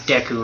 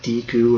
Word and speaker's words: Deku: you pronounced it right i always pronounce deku right i've never that word up so many people call it like deeku or deku the deku oh hey